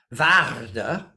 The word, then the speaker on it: Waarde: And my name, Waarde, which you have to practice, you have to roll that R to say it right.